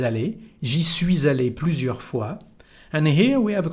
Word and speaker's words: fois: J'y suis allé plusieurs fois, j'ai de la famille là-bas. Suis, plusieurs, you don't pronounce the letter S at the end. Fois, same thing here.